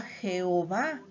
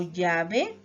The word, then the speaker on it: Yahvé: Esto es una prueba de que para el pueblo de Israel no era Jehová, sino Yahvé. Si fuera Jehová, terminaría con G y diríamos el Mesije, Zacarije, Elige, Isaíje. El único pueblo que no dejó de pronunciar nunca el nombre de Dios fueron los samaritanos, y ellos pronunciaban algo como Yahvé, no como Jehová.